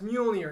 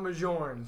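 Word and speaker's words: Mjölnir: So they're talking like, oh, yeah, it's Mjolnir, not Mjorn.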